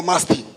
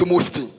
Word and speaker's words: Musti: Musti Limited, watu wengi hapa wanaipronounce kama Masti. Sio Masti vile tumezoea. It's Musti. Chamoda.